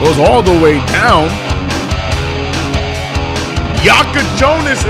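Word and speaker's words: Jakučionis: Yakachonis is how you say bro's name.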